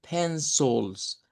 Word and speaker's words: pencils: que se encuentra ahí, que al final es una schwa, decimos, y no es un sonido de i.